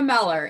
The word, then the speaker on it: Meller: if if you say is it mueller i say no it's it's meller like keller but within them like